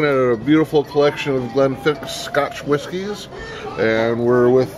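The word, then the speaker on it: Glenfiddich: to pronounce Glennfiidich properly, you can start by remembering the Loch Ness Monster. Yeah. So it's not Glennfiidich, it's Glennfiidich. Okay. Just an old Scots Gaelic pronunciation there.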